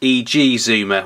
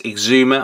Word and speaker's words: Egzumer: in the previous videos I used to pronounce it as EG Zuma well it isn't it is Exuma I've been put right